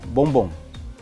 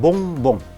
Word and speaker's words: bonbon: For example, the word called bonbon, which means sweet. We call it bonbon. So if I were to block my nose, you can hear the word bonbon is being distorted. So listen carefully. Bonbon, bonbon, bonbon. So you can't hear the word bonbon correctly because the ong sound is being pronounced with partial air coming through the nose.